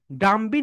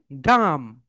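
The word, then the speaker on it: dumb: খোম খোম বি এখানে silent লেঠা এরপরে বলবে এখানে ডি ইউ এমবি ডাম ডামবি না হয়ে এখানে হবে ডাম ডাম কারণ বি হচ্ছে সাইলেন্ট লেঠা এরপরে এখানে বলবে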